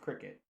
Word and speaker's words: Cricut: It's pronounced cricket, from my understanding. CRICUT.